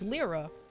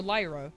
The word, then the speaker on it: Lyra: gold and soul silver her canonical name is lra or Lyra depending on how you want to pronounce it that's her canonical name